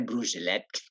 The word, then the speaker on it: Brugelette: kota Bruce delete lah kabarnya brucelead itu tulisannya brugelette you Tapi bacanya brucelead lebih tepatnya di domain itu